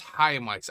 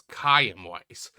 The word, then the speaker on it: Chaim Weiss: Okay, so his name is Haim Weiss. I always due to the way it's spelled I always spel pronounce as cam weiss but it's a single blow to his